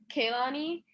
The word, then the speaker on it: Kealonie: on this show um you did say my name wrong it's kelani oh i've been practicing it like key lonnie okay it's key money key lonnie damn i